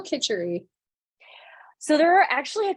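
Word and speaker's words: kitchari: how do you spell kitchery so there are actually a couple different ways of spelling it there are also a couple different ways of pronouncing it some people pronounce it kitchity and so uh I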